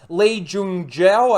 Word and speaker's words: Lee Jung-jae: And the first one is Lee Jung-jae.